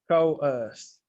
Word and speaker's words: coerce: Can we pronounce it? Coerce. Coerce.